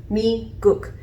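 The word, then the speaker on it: 미국: You have me-guk.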